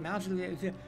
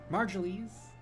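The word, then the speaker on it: Marjoly: kid you you're uh marjorie's not modular i can't pronounce her name again god damn it margieles and that's correct i'm krodia they call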